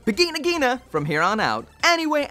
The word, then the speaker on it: Vigna Ghina: a really odd name because in Japanese it's beginner ghena so that would make it beginnig Jeana so for the review I'm just gonna go with the Japanese so it's bikini Nagina from here on out anyway as usual this